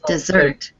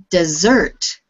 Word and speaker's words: dessert: The next word is pronounced dessert with the stress on the second syllable.